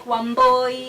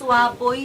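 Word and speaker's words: Wambui: There's nothing like Wamboi, Wanjiro, it's Waboy, Wajiro. That's how it's supposed to be said, because it is Kikuyu or whichever culture you are in.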